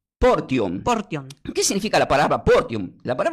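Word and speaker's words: φορτίον: griego el Nuevo Testamento se pronuncia no como varo, sino diga porum."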